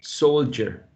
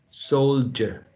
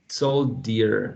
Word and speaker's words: soldier: The word soldier is quite tricky. The word Yes. soldier, yeah, it's a word that contains a sound like j, soldier, soldier. It's not Okay. soldier like a d, but a j.